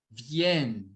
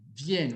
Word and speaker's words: viennent: Ils viennent. Viennent. Você vai pronunciar só até aqui.